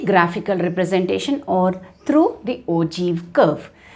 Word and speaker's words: ogive: It is written like this, but it is pronounced as ogive. Right? We write it here like this, but we pronounce it as ogive curve.